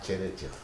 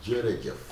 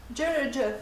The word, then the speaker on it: jërëjëf: C'est pas tchérétchef, c'est djérejef. Jërëjëf.